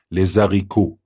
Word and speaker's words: les haricots: Clifton Chenier, the late king of Zydeco, coined the term Zydeco, les haricots, which is pronounced properly les haricots, is the French word for green beans.